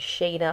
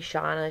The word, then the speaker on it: Shana: um i know that my name is shayna a lot of people have butchered it in the past they call me shauna shanna sheena you know i hear it